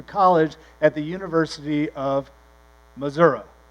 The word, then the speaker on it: Missouri: but grew up in southwest Missouri which is how you say it unless you're a city slicker who says Missouri you say Missouri and dad grew up